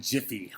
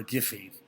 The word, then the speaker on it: GIPHY: is number 5, is taking Jiffy or Giphy. I know there are wars about how to pronounce this. I really don't care. Excuse me. Just had a bunch of coffee. I typically say Giphy, but, again, however you want to do it.